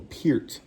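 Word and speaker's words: Peart: say idol, but I highly favored Neil Pier. That's how I said that. That's how you do it. It's spelled P E A R T as I said.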